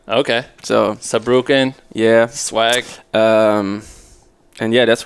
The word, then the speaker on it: Saarbrücken: How do you pronounce it? So I'm from Saarbrücken. Okay. So Saarbrücken.